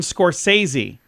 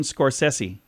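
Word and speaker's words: Scorsese: how you'd say it Martin scorsi that's how we say it he introduces himself as Martin scors sessi okay Demi Moore on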